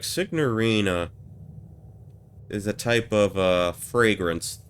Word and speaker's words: signorina: Okay, we don't pronounce the N in the actual Italian.